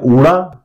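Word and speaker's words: ਊੜਾ: ये हो गया ऊड़ा। पंजाबी में इसको ऊड़ा कहते हैं और हिंदी में ऊ का उच्चारण होता है।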